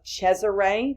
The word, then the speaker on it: Cesare: It says here he observed the political leadership of Cesare, that's how you pronounce that, Borgia, who happened to be the son of Pope Alexander VI.